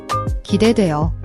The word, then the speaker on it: 기대돼요: 기대돼요. Now you try. 기대돼요. Formal. 기대돼요. Casual. 기대돼. 지아이대뒤. Watch your pronunciation. The vowel in, gidaeyo, should sound like waz in wedding.